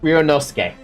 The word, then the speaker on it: Ryunosuke: But I now know how to pronounce that. Ryunosuke.